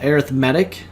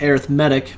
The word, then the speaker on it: arithmetic: have what we call arithmetic sequence and a geometric sequence by the way little side note is pronounced arithmetic because it is an adjective describing the sequence whereas the word arithmetic is a noun so it's pronounced differently